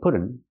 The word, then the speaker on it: put on: We can't say put on. We have to say put on, or change the T to a fast D and say put on. Pronounce the word on with the open sound.